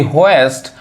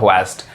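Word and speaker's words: hoist: अब एग्जांपल देखिए वी होस्ट our national flag with ड बहुत लोग इसको क्या बोलते हैं हस्ट कहते हैं इट्स नॉट होस्ट इट्स होस्ट होस्ट समझ में आ रहा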